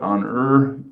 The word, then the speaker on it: honor: is it honor or is it honor so um which which glowing fire ignites for god's honor so you don't even say the r you only think it what's the right